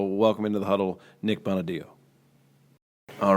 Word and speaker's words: Bonaddio: Yeah, it's Bonaddio. Bonaddio. So the second D is what throws everyone off.